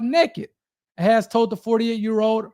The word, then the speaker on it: NKD: directed towards toiletries, and it's spelled and pronounced NKD. So naked, NKD, beauty products, toiletries.